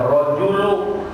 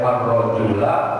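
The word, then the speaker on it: الرَّجُلُ: Maka ini dibacanya rajulu. Tidak boleh ar-rajula atau ar-rajuli.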